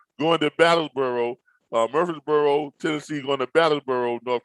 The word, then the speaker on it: Murfreesboro: i i guess murphree murfreesboro okay i guess you pronounce it murphy's like like like you say the name murphy but a spell f-m-u-r-f-r-e-e